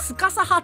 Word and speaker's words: スカサハ: ですえっと要は日本語発音色々あって別の作品とスカサハとかスカーサハとかて言われることある天才オタなだけ